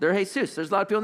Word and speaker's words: Jesús: They're Jesús hay-SOOS.